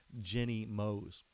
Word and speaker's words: Jenny Moose: So I've got a story here that talks about a reporter named Jenny Moose. Well, her name is actually said Jenny Mose.